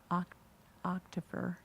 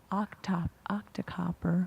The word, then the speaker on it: Octocopter: And so we used the Octocopter. I don't think the interpreter's pronouncing it correctly, but it's "O-c-t" instead of helicopter.